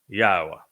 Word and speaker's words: Yahowah: told you emphatically that God has but one name and it is pronounced yaha and I have proven